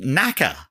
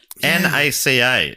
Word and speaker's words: NACA: So before NASA was a thing called NACA. No. NACA. Well, apparently it wasn't really pronounced NACA.